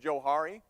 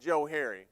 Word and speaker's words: Johari: like it's probably pronounced Johari but I pronounce it Joe Harry because it was created by two guys they're psychologists back in